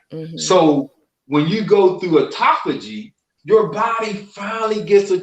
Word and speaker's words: autophagy: for me brother sean a-u-t-o-p-h-a-g-y okay i'm gonna put it in the chat when this is separated it's called phagy when it's together it's pronounced autophagy so phagy means eating